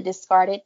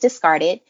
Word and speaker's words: DiscardIt: podcast is called the discarded podcast and it's spelled discard it i.t but pronounced discarded because it it definitely